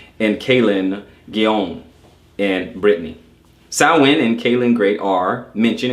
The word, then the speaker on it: Samhain: Samhain, pronounced Samhain or Samhain, it is spelled Samhain, but pronounced Samhain.